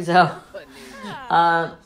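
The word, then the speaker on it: Xeb: It's like Zeb. It's pronounced the same way as Zeb with a Z.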